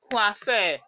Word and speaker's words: coiffeur: I already told you that O and I, it is the wa sound. Wa. Not oi and not oi. So you say coiffeur.